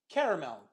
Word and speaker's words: caramel: topic is on there so stress on the first syllable here caramel very good okay day